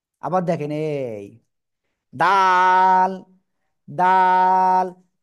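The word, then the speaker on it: د: এই যে জিব্বার আগা, এই দুই দাঁতের গোড়ায় লাগাবো। ঠিক আছে? আগায় না, আগায় হলে এরকম, আর গোড়ায় কি? ঠিক আছে, গোড়ায় লাগিয়ে 1 2 3 আলিফ টেনে উচ্চারণ করব।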